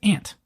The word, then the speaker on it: aunt: the English-speaking populace that the term Aunt for us is pronounced ant and uh the sign